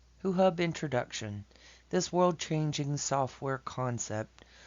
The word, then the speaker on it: HuHub: start to this video hu hub is pronounced who hub this who hub humanitarian